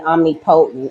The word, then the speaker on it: omnipotent: iris was immortal and omnipotent. Okay. But I'm not bad. Omnipotent is how you say it.